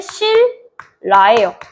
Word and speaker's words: 신라: 자, 신라 발음할 때 실라예요. 왜요? 유마가 발생하기 때문인 거 다들 알고 계시죠?